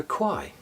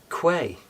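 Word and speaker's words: Kwai: Well, it's the bridge over the river Quai. Correct pronunciation. Quay.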